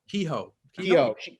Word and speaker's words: Keough: How do you say her last name? Keough? Kehoe.